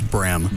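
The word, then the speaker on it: Brehm: Is it Brim or Bream? I didn't hear her pronounce it. I think she said it was Brem, but right? It's got the H in it.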